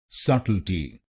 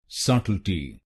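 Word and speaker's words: subtlety: इसकी सही प्रोनाउंसिएशन है सटल्टी। सटल्टी। इस शब्द में 3 शब्दांश हैं। पहले शब्दांश को यानी SUBT को बोलिए सट। सट। इसमें जो बी अक्षर है वो साइलेंट है। इसका मतलब है हम इस अक्षर को नहीं बोलेंगे।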